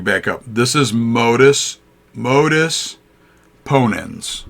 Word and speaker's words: modus ponens: different forms this is the first one is modus ponens is how you say that an example from